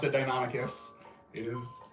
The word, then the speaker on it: Deinonychus: which which for most of my life I pronounced dinon nigus so um but that shows that you know